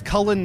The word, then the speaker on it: Cullen: My name is Cullen.